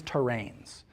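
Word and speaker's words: terrane: Okay, we call these things terrains. And it's spelled kind of weird, T-E-R-R-A-N-E, terrain.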